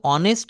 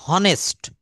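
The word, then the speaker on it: honest: মত করে হর্স কিন্তু এই অনেস্ট কথাটাকে আমরা কেউ কখনো হনেস্ট বলি না এইটা টা আমরা বরাবরই বলি অনেস্ট। অনেস্ট মানে হচ্ছে সৎ।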